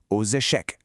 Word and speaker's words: aux échecs: For cards, repeat aux cartes and finally for chess, note how the x links to the vowel. Repeat aux échecs.